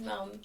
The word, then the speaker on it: M'elle: Yeah, so my name is Mel Mel. You can find me on all platforms as Mel Music. Um it's spelled m e l l e music underscore at the end.